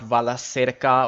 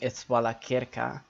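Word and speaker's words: Valacirca: Like CI is always kir, so CI is always the hard C, then I. So it's not Vala Sirka or Vala Chirka, it's Vala Kirka.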